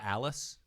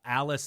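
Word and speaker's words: Alis: like the dinner ends and then she remember Alice Alice is the maid oh okay remember like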